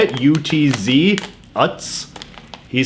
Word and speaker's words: Utz: I think that's how you say it, U-T-Z, Utz.